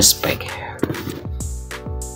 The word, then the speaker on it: Specs: Udah bisa dilihat di sininya ada spek ya, spec, tapi dibacanya spek.